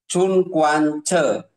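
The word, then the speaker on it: 寸关尺: Jadi lurus dengan ini namanya Chun Kwan Che, itu bacanya begitu ya. Jadi Chun Kwan Che, Chun itu adalah untuk ruang atas.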